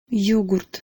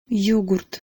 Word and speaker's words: Йогурт: Йогурт. Йогурт. Йогурт.